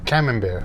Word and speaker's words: Camembert: We got some fancy cheese, which is pronounced Camembert.